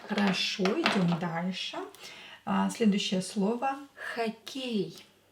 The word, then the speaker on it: хоккей: Следующее слово хоккей. Хоккей. Хоккей. Хоккей. What gender is this? Хоккей. It's masculine. Он хоккей. Давайте напишем. Хоккей. Хоккей. Ударение на букву Е. Е is stressed.